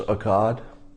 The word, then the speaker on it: Akkad: his alleged hate speech uh somebody's saying it's pronounced akkad sargon of akkad okay um he didn't say what he said